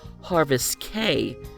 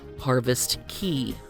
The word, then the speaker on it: Harvest Caye: While we heard several passengers on the ship call the island Harvest Caye, the info sheet and map that NCL handed out to guests states that the island's name is pronounced Harvest Caye.